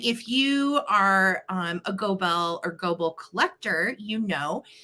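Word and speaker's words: Goebel: actually Googled that today do you pronounce it gobel or is it Global and it's actually um with an American accent it's global okay so she is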